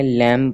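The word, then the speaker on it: lamb: लैम अभी यहां प इंग्लिश का रूल होता है कि जिस तरह भी एल ए एम बी है तो इसके अंदर जो आखरी है तो य बी बी साइलेंट पढ़ा जाता है इसको हमने लैम पढ़ना है लैम नहीं पढ़ना इस तरह इसी तरह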